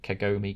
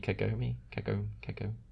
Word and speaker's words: Kagome: song which is called is it kagomi kagome yeah that'll be the bright pronunciation i can't save her